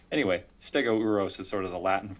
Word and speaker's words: Stegouros: Because it's Stegouros. So, yeah, it's like, how do you combine that O and U? Anyway, Stegouros is sort of the Latin version.